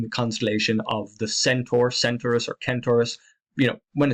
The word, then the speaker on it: Centaurus: constellation of the Centaur, Centaurus, or Kentaurus. When it's spelled with a K, I tend to pronounce it Kentaurus. If there's a C, maybe I'll pronounce it the other way.